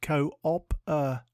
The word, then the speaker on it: cooperative: one word at a time today's word is cooperative it is pronounced cooptive and is spelled c o o p e